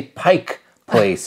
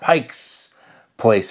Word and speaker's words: Pike Place: and for the record make sure you say Pike Place and not Pikes Place Market you you know you might rub some of the locals wrong if you you don't say it right you can literally just